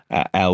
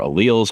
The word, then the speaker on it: alleles: different versions of genes Al or alals however you want to pronounce it either way is actually fine um but these these